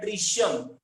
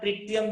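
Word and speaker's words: tritium: Well deuteron भी कहते हैं, ड्यूटेरॉन एंड ट्रिशियम, ट्रिशियम कहते हैं, आप ट्रिटियम भी कह सकते हो, डिपेंड, लोगों का प्रोनाउंसिएशन थोड़ा अलग होता है।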